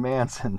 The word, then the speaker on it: Manson: just died Manson Manson Manson sorry I should know that rhymes with Hansen did you get Opie's